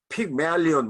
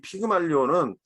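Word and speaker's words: Pygmalion: 픽메알리온 뭐 이렇게 발음을 합니다 원래. 우리는 피그말리온 그러잖아요. 뭐 피를 말리는 건데 뭐 하여튼 그런 것도 아닌데 좀 발음이 좀 그래요. 하여튼 이 피그말리온은 그 그리스 뭐 이제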